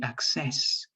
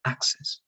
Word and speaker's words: axis: mispronounced this one because you say access with the stress in the last part but later on you you curve you pronounce this correctly axis right axis so i'm